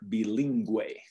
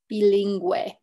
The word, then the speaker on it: bilingüe: Another time it can produce that W-like sound for us is if it has the two little dots over the U, okay? So here we have lingüista or bilingüe. Got it, lingüista and bilingüe. Yeah, so it's not a lingüista, but lingüista, like it just merges it into one syllable.